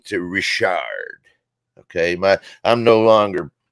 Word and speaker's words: Richard: them have gone and that's the original French pronunciation of it but so I move